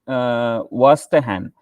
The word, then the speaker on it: Verstehen: Next term, the eighth term is it is Vastahan. It is called means we can pronounce Vastahan.